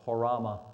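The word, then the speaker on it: ὅραμα: you want to know the Greek word it's hoorah it's how you pronounce it it's not a dream it is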